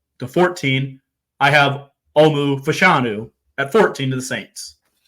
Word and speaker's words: Fashanu: I have tackle from Penn State, Alamuya, whatever, Fascio. Fashanu is how you say the last name.